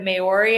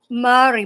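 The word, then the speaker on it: Māori: How are you uh how did you go from being in the is it Mayori? Am I saying it right? Mari but actually I wasn't in the indigenous tribe.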